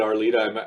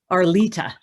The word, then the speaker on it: Arlita: saying the right one it was it is our leader i think you i think you were just slightly mispronouncing it maybe but how would you know how do you say it arlita arlita okay yeah um which i